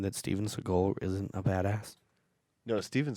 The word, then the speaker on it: Seagal: no Steven Seagal 100% is. Yeah, I know. Seagull. Seagal. It sounded like you said seagull. Yeah, I thought you were telling me Seagull, like you you're pronounce it only that way.